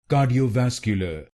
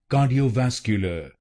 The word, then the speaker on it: cardiovascular: Ka d o vasque l then it will become cardiovascular cardiovascular and in this word you have to put stress on the fourth syllable cardiovascular cardiovascular now you know the correct pronunciation of this word.